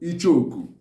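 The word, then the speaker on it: Icheoku: So in Igbo, it's called Ichoku.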